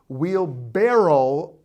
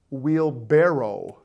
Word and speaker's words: wheelbarrow: Wheelbarrel. Wheelbarrow. Barrow. Okay. Fun fact, in the dictionary, both wheelbarrel and barrerow are acceptable pronunciations.